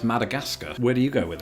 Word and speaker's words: Madagascar: For me this one is simply pronounced Madagascar. Where do you go with it? Madagascar. Madagascar. So that last part rhymes with NASCAR.